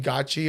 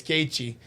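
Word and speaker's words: Gaethje: the guy was like Justin gachi or GE or said something and then he's like it's gatei the guy's like I have people for this I know how to pronounce it and he's Justin's like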